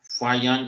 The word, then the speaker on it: Faxian: तो इसका प्रोनाउंसिएशन आपको आना चाहिए, ओके। इसको बोलते हैं फायान, फा फिर है या फायान।